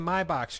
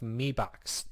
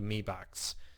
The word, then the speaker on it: Mi Box: you pronounce it the Mi Box. Somebody from China actually contacted me on that when I did a review and said, in China, M-I is said me, like with an E on it.